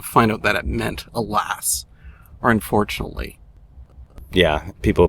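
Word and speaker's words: Hélas: It's Alas, but spelled significantly differently. H E L A S.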